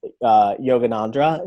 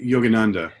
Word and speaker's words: Yogananda: mispronounce his name, but Yoganandra, is that the gentleman who came from India and brought like mindfulness and meditation to the West? I think Yogananda. Yogananda. Okay, I was close, but yeah, I had